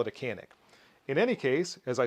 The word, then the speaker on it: Canik: not pronouncing canik properly in the turkish language it's pronounced zhanish or something like that but i don't speak